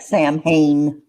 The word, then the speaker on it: Samhain: Samhain. Samhain. Even though it looks like Sam Hain.